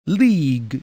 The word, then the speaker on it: league: Collect the letters of the word league in the proper order. Remember, the U is silent.